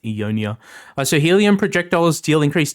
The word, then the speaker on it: EUNOIA: I think it's pronounced EUNOIA.